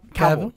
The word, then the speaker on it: Cavill: Cavill.